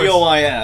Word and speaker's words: Bois: Yeah, But, spelled of course, B-O-I-S. Isle of the Boys. Pronounced Bois.